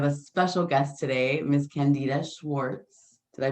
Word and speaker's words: Candida Schwartz: I am Amira, and I have a special guest today, Miss Candida Schwartz. Did I pronounce Hi.